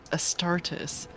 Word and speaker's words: Astarte: Incredible to have survived an encounter with a heretic Astartes. Oh my gosh. Yeah, it's in this universe it's pronounced Astartes, but the goddess's name is Astarte.